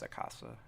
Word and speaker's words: acasă: Acasă. Acasă. Oh, it's just acasă. It's not you. The little swoosh. It makes me want it to be you.